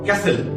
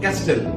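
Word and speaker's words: castle: জন্য এজমা উচ্চারণ এজমা এক প্রকার রোগের নাম বানান করো ক্যাসেল সি এ এস টি এল ই ক্যাসেল এখানে বানানে যেভাবে আছে সি এস টি এল ই উচ্চারণ হওয়ার ছিল ক্যাসেল কিন্তু একচুয়ালি এখানে টি টা সাইলেন্ট হওয়ার জন্য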